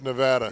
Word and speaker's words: Nevada: Beautiful, beautiful day in sunny Las Vegas, Nevada. How's my pronunciation of that? Sucks, but Las Vegas, Nevada. It's Nevada.